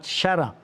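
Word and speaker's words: الشرع: Walaupun namanya adalah Ahmad Syara. Nah, ini memang harus bahasa Arab, Bang. Jadi, karena pelafalannya banyak yang tidak tepat. Syara maksudnya adalah syara. Jadi agak masuk ke hidung bagian atas.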